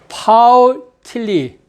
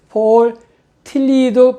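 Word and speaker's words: Paul Tillich: 오늘의 강의 제목은 파울 틸리, 영어로는 폴이 아니라 폴이라서 폴 틸리도 발음을 이렇게 하면 안 돼요. 근데 독일식 발음이 좋아서 파울 틸리 신학의 방법의 언어를 차용한 선교예요.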